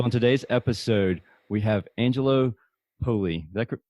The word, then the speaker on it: Angelo Poli: So on today's episode, we have Angelo Poli. Did I pronounce that correct?